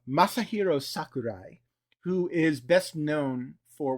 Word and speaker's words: Masahiro Sakurai: them Sora LTD I.E Maha Shiro Sakurai oh you butchered that so so it's okay it's okay say it don't cry so Masahiro Sakurai who is best known